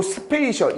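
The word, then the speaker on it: spatial: 자,요 스페이셜 이거를 단어를 그냥 보면 너희들이 스파고 싶겠지만 사실 이거는 뭐의 형용사냐? 공간이라는 스페이스의 형용사고 C가 T로 바뀌었으니까 발음이 뭐냐? 스페이셜이라고 됩니다. 공간 기역 공간 기역의 필수적인 해마가 뭐다?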